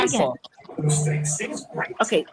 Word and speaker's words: Montauk: That's what you're gonna be going into Montauk, all right?